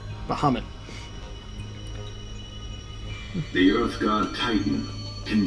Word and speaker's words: Bahamut: And that's pronounced wrong, because they actually call him Bahamut in the base game. Not Bahamut. Bahamut.